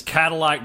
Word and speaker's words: Cattleack: Number 2 on my list is Cadillac Barbecue. Cadillac Barbecue is spelled a way you've probably never seen Cadillac spelled. It is Cattleack.